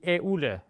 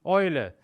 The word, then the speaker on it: Eule: Another combination, another diphthong, is E and U, also E und U, which almost exclusively is pronounced Oi. Please don't ask why it is pronounced this way, it is simply a definition. This is how they do it, and we can just transmit to new friends of the language how it is pronounced. So the owl is die Eule, it is not die Eule, it's die Eule.